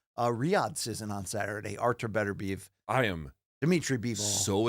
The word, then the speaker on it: Beterbiev: He says, Beterbiev. Beterbiev.